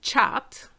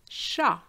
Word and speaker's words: chat: you would say to chat but for cat is sha and not cha so i repeat the